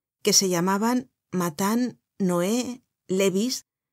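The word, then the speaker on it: Lévis: se llamaban matán Noé Levis que se pronunciaba Levi y cambies que se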